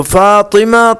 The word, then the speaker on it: فاطمہ: تو فاطمہ طا کے زیر کے ساتھ ہے، اور اس کے معنی